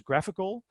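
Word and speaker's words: GraphiQL: chrome iql and actually I've heard people pronounce graph iql as graphical so maybe chrome iql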